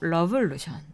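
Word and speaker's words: Lovelution: 러브에 빼주시고 러블루션.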